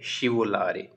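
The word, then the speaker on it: scivolare: फिसलने की वो है शिवो लारे एस सी आई शी शिवो लारे इस तरीके से वर्ब को प्रोनाउंस करते हैं बोलते हैं तो शिवला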